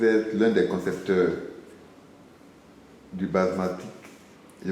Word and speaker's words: Basematic: Vous êtes l'un des concepteurs du basmatic. Je prononce bien? Du Bien, basmatic. Basmastic, bien sûr.